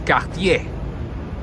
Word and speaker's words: Cartier: And the proper way to pronounce this is Cartier.